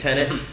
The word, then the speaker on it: Tenet: I kept pronouncing it Tenet, like David Tennant. It's Tenet, and Batman's in it.